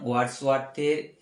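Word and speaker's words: Wordsworth: একটা line Covid নাম আমরা দেখব এখন উইলিয়াম ওয়ার্ডস ওয়ার্থ উচ্চারণটা লিখে দেই প্রথমটা হচ্ছে উইলিয়াম উইলি লি আম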